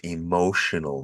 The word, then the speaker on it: emotional: a very emotional word we've got a t in the spelling of emotional but the pronunciation is most definitely sh sh so crazy English